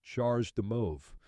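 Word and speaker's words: CHAdeMO: and standards such as chadam Mo pronounced charge de Mo this is a Japanese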